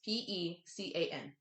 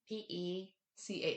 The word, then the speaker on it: pecan: Pecan. Pecan. Pecan. Pecan. But it's con instead of can. yes, Instead of pecan.